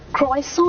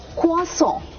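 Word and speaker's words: croissant: क्या बताऊ आपको कि इसकी प्रोनंसिएशन भी काफी पेचीदा है बट अगर आप ट्राई करना चाहते हो कसो नहीं होता ये र की तो आवाज ही नहीं है क्वास क् सो आई am having a क्वास ओ माय गॉड मतलब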